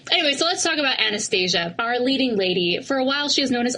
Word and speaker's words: Anastasia: would tell you that the proper way to say this is Anastasia oh yeah do you